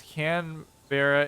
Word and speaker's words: Canberra: Pronounce it as can. No, not the women's clothing item. So it's bra. And yes, Canberra is the capital.